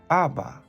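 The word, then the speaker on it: Abba: o Aba pero normalmente la pronunciación más correcta incluso allá en Israel es Aba Aba que quiere decir Papito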